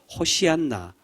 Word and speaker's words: 호산나: 하면 어떻게 될까요 바로 호시안나 우리가 쉽게 음하 는 걸로 호나라 되어 있습니다 바로 예수님께서 예루살렘에 입성하실 때 이스라엘 백성들이 예수님을 찬양하고 영광 돌릴 때 외치던 말이 바로이 호산나 히브리어 발음은 호시안나 되어 있습니다 주님 이제 오셔서 이제